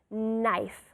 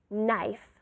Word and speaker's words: knife: has a que but be careful the pronunciation is silent knife knife all right we also have cuchara how do